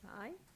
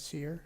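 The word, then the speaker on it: Cyr: Fred Sy? Good evening. My name is Fred Sear. It's spelled C-Y-R.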